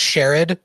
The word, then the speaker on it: charade: sake of charade, I believe it's pronounced Sherrod. depending on which next time on Star Trek: The Next Generation you listen to.